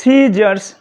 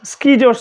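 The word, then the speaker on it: scissors: তাহলে সিজারস সিকিজ বললাম না কিন্তু সিজারস বললাম। অর্থাৎ সিটা এখানে এস দ্বারা মডিফাইড আছে তাই সাইলেন্ট থাকছে।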